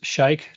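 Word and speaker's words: Sheikh: Jonathan L says, "Shake to wait." I've heard that name before somewhere. I think he's sponsored by Red Bull. It's spelled shake. Sh h e i k h. You know shake.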